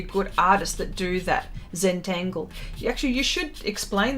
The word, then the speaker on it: Zentangle: that how is that how you say it zentangle yeah yeah yeah wendy's been doing a lot of that and she showed me and it's some really good stuff and some really good artists that do that zentangle you actually you should explain that wendy in